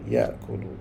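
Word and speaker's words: يأكل: yaakulu bacanya akala yaakulu akala bacanya mesti yaakulu mesti Bi tengah tu bagi depan akala yaakulu rajama rajama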